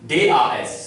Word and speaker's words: das: For example, zum Beispiel, D-A-S. So it will give D sound. In German, A is pronounced as A. So it is das.